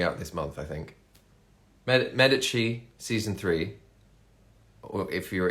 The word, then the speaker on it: Medici: this month i think medici season three or if you're in if you don't know the italian pronunciation medici medici you probably call it um but yeah the